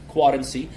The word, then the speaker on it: Quadency: With Quadency, it's spelled Quadency, like currency and Quadency.